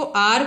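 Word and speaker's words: hour: एन आर एच से शुरू हो रहा है, एच ओ यू आर, लेकिन इसमें क्या है, एच साइलेंट है। एच की ध्वनि हमें नहीं सुनानी है, इसको हार नहीं पढ़ेंगे, इसको आर पढ़ेंगे।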